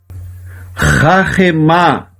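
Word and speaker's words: חָכְמָה: Se você prestar atenção, nós temos aqui 2 palavras iguais. A única diferença da primeira para a segunda é este risquinho que eu tenho aqui, ó, esse risquinho chamado meteg. A primeira é a palavra horma, sabedoria. E a segunda é o verbo rahemá.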